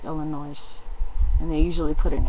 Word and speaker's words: Illinois: So anyway, just like people in Wisconsin generally say Illinois, where people that live there call it Illinois, or I'm not pronouncing it correctly, I'm sure it's Illinois, and they usually put an S on the end.